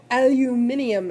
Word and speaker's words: aluminium: group 13 element tum a love aluminum aluminium as the Brits say and how many valence